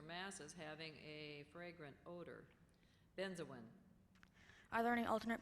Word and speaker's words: benzoin: Benzoin. Are there any alternate pronunciations?